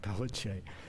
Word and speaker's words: Pelletier: Deborah Pelletier, that's how we pronounce it in Louisiana, Pelletier, was this woman who was married to this Ben Thomas fellow.